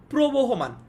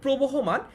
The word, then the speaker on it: প্রবহমান: আমরা বলছি নদীর মতো প্রবহমান, এটাকে অনেকে ভুল উচ্চারণ করে, ভুল বানান লিখে, অনেকে লিখে এটা হচ্ছে প্রবাহমান, কিন্তু এটা ভুল। প্রবাহমান এটা ভুল, এটা প্রবহমান হবে, ঠিক আছে?